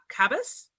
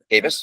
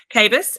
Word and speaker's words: Kabus: Uh, I guess for the purposes of everyone listening, I'm here with uh Cabus. Cavis, pronounce it right. Cavis and then dataet is how I pronounce dataet.